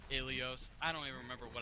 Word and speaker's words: Ilios: It's pronounced Ilios.